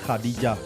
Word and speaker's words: Khadija: Les Béninois l'appellent Khadija. La prononciation arabe recommande Khadija.